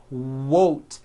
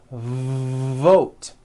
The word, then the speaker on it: vote: The word is not wote, it's vote.